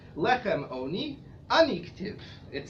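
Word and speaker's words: עני: It's pronounced oni, which may mean one of a couple of things.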